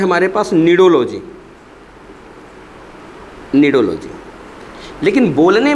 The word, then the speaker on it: cnidology: और ये नीचे वाला निडोलॉजी प्रोनाउंसिएशन है बेटा, ये होता है स्टडी ऑफ निडेरिया।